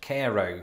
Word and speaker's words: Cairo: But as I've just discovered, Cairo, Illinois is pronounced Cairo.